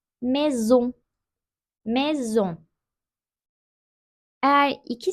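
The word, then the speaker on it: maison: olarak okunuyor sley Soley Eğer iki sesli harf arasındaysa Z olarak okunuyor Mezun mezun Eğer iki s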